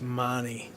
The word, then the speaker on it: Mahoney: I keep Mahoney s it's mani pronounced.